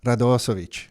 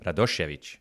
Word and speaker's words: Radošević: Radosevic. Wrong. Is that better? How do you say it? Radošević. Oh, Radošević.